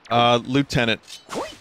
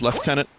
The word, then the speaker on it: lieutenant: Lieutenant is how I grew up hearing it. Like, I think it's more of an American thing, and I think maybe more British is lieutenant. Yeah, lieutenant is a real pronunciation of that word. It's like colonel and colonel.